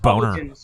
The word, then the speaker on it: Boehner: Like if you look at the Democratic Party versus the Republican Party, it's not actually, an accident that it's pronounced Boner.